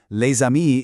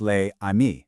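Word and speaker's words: les amis: So, leami isn't pronounced lei. No, that s jumps over and it becomes one single fluid sound.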